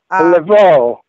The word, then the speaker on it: Laveau: Is that how you pronounce it? Right. Okay. Laveau.